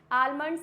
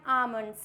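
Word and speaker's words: almond: क्या होता है बादाम आलमंड नहीं पढ़ते हैं इसको पढ़ते हैं हम आमंड क्योंकि एम से पहले जस्ट यहां पे एल दिया हुआ है इट मींस यहां पे एल क्या होगा साइलेंट चलिए आगे बढ़ते हैं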